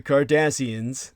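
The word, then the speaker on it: Cardassians: the Kardashians, but no, the Kardassians, that's spelled with a C instead of a K, and pronounced without any SH sound to it.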